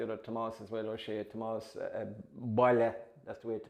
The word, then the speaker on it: Tomas: I'd like to see Tomas Dunqueen, who is the dancer, with Dunqueen, and Tomas, the other Tomas as well, O'Shea, Tomas Boyle, that's the way to pronounce it, by the way, Boyle Brack.